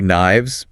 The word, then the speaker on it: knives: Carry knives. Plural of knife. Notice the F changes to a V sound.